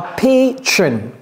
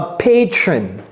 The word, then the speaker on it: patron: Mais non, ça, d'abord, ça se prononce comment? Ça, c'est pay, pay. A patron. A patron.